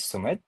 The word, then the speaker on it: Sumeet: super excited to be here uh with uh Sumit. I hope I'm pronouncing correctly. Sumit you want to quickly introduce yourself. Yeah. Uh hi Francisco. Uh my my name is Sumit.